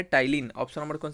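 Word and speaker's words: ptyalin: क्या होता है, टाइलिन। ऑप्शन नंबर कौन सा है, बी इज the right answer. ये पी जो होता है यहाँ पे साइलेंट होता है।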